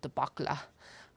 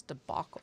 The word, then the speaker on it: debacle: However, the audiobook narrator keeps pronouncing debacle debaca. And I'm like, no. I actually looked up how to pronounce debacle because I was like, I'm pretty sure it's debacle, not debac.